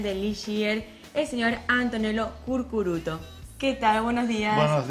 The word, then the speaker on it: Curcuruto: Curcuruto es un poco difícil. Curcuruto. Pero... Es que tiene muchas U y las U normalmente no estamos tan acostumbrados a pronunciarlas.